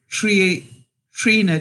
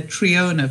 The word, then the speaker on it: Trina: I've been calling Trina Triona for the longest time, and she wrote to me this week and told me it's actually pronounced Trina.